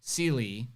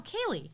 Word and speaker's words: Sealy: Yeah, so wow, she said how to pronounce her name. It's like Sealy. What? No, Kaylee.